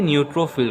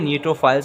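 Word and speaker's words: neutrophil: Student, सबसे पहले हम पढ़ते हैं न्यूट्रोफिल को। न्यूट्रोफिल या न्यूट्रोफाइल्स, आपसे जो भी कहना चाहें, इन दोनों लफ्ज़ में से, इन दोनों प्रोनाउंसिएशन से आप इसे कह सकते हैं।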